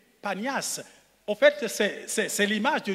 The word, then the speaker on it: Panias: On dit Banias à cause de la difficulté de prononcer le P. Panias.